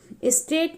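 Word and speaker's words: straight: में L silent है स्ट्रेट स्ट्रेट में आप देखेंगे की ग की साउंड नहीं आती है इसलिए यहां पर ग साइलेंट है मोर जब आप मोर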